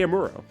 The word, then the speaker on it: Amuro: No no no his name is Ray Amuro or Amoro I guess is how you pronounce it.